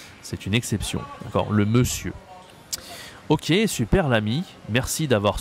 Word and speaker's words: monsieur: E monsieur le monsieur attention ici he monsieur on a on n mais ça se dit e c'est spécial c'est une exception d'accord le monsieur OK super l'ami merci